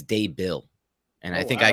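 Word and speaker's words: Daboll: brian dave is it dable or dabble by the way i have issues with this myself it's definitely day is how you pronounce the first part i think it's day bill and i think i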